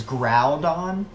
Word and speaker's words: Groudon: ] for it because they like thought that the Groudon pronunciation was like total crap because like he's clearly the argument was like he's clearly a ground Pokemon it is ground on but for me when